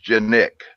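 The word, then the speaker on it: Canik: you pronounce it it's genic how that C comes into a J but he says pronounced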